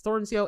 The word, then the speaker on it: Thornsjo: I've never been really good at pronouncing his last. It's Thornsjoe.